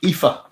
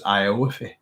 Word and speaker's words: Aoife: So I actually thought her name was Ioife. And I asked her, I didn't say I asked her to get her to pronounce her name. And I was, because it doesn't look like Eve, does it? So it's Aoife, I believe.